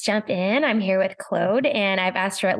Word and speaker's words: Claude: I'm here with Clode and I've asked her at least three times now how to say her name and it's Clo.